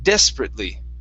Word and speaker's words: desperately: have the word desperately so our stress is at the very beginning the ate we're going to pronounce that like an i t so instead of desperately it's desperately desperately okay very good and